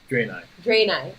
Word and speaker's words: Draenei: I am currently playing, is it pronounced Draenei? Draenei, okay.